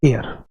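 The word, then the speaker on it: heir: अगर ए और एन का सवाल पूछा जाए तो बेटा ये जो शब्द है इसको पढ़ते हैं एयर। बिल्कुल हवा वाला जो एयर होता है वैसा प्रोनाउंसिएशन है इस वाले वर्ड का।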